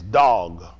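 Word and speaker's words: דג: Dog, I think the word for fish is dog.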